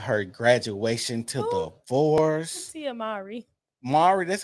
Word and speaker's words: Mowry: love and hip pop um fiascos um Tia Morrow talking about her graduation to the fours Mari that's how you say her name yeah tiamaring